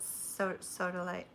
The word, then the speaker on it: Sodalite: Red jasper and Sodalite, right? Isn't that the way you pronounce it? Sodalite, yeah.